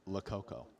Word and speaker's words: Lococo: So we pronounce his name Lococo, but if you just isolate the first 4 letters of his name, it is the Spanish word loco, which means crazy.